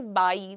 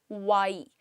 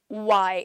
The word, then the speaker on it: why: लेकिन जब हम कह रहे हैं तो वो प्रॉपर डब्ल्यू का प्रोनाउंसिएशन है वाई, वाई, right. So why, so you just have to pucker your lips out and then you have to say it again।